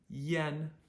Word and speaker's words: yan: have to memorize it i a n is pronounced the a is pronounced like an e so Yen e yen okay yes I a an is pronounced Yen like the name of the Japanese currency the Yen Yen so I aan